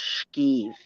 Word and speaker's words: skeeve: that i taught was an italian word that's cause that's pronounced skeeve and it means to